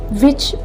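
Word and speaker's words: which: Words की दी है, WH विच word जो ऐसा है उसके अंदर 2 कंपाउंड लेटर इस्तेमाल हुए हैं। सबसे पहले तो WH जो कि हमें व की साउंड देता है, इसके बाद CH वर्ड, ठीक है, जो कि च के साउंड देता है, तो साउंड क्रिएट हुआ है विच।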